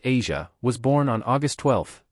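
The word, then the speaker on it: Eja: Their son, Asia, pronounced Asia, was born on August 12th, 2001.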